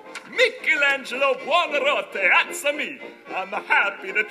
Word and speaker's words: Michelangelo: You must be Michael Anglo. Am I pronouncing that correctly? Michelangelo.